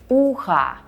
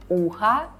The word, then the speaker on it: ухо: By the way, notice when we say ухо, we hear a at the end because o is not stressed. But you have to pay attention to not what we hear, but to how we spell it. As we spell o at the end, ухо will be neuter, not feminine, even though we hear a, ухо.